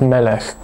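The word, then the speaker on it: מֶלֶךְ: Zum Beispiel das bekannte Wort Melech, König. Hier ist die Betonung auf der ersten Silbe, Melech, nicht Melech, sondern Melech.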